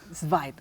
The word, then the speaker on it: Zweig: libro de un poeta y periodista austriaco, Stefan Zweig. Zweig. Zweig, gracias. Claro, es alemán, una No, pronunciación medio rara.